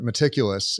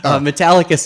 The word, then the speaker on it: Metallicus: what did you uh is it meticulous or is it metallicus metallicus is the company yes oh metallica so